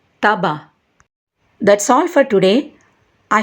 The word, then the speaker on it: tabac: Le C se prononce dans les mots bac, lac, sac. Et le C ne se prononce pas dans les mots estomac, tabac.